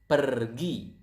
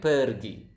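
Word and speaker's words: pergi: you can see here we pronounce the are quite clearly so it is kind of like Spanish if you if you guys speak Spanish out there I think you will notice that in an Asian pronounce the are quite similar to to this to Spanish language yeah to the Spanish so yeah so it's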